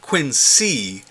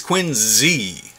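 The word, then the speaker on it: Quincy: wrote in with some good-natured criticism about our pronunciation hey Hub history love the podcast but it is not Quinn C it is Quinn Z thanks when I asked which of us he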